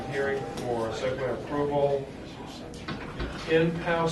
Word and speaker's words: Enpow: Enpow summer camp, did I pronounce that correctly? Yes, Enpow.